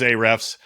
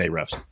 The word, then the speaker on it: Ahrefs: I mostly use Ahrefs on a day-to-day basis.